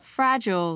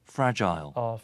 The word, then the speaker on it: fragile: 자, 어떻게 발음이 될까요? fragile, 이렇게 돼요. fragile, fragile에서 그냥 짧게 I로 gel 강하게 하지 말고 gel처럼 fragile이라고 하시면 되는데 이런 거를 영국 친구들은 fragile, 이렇게 해요. fragile, fragile라고 발음합니다.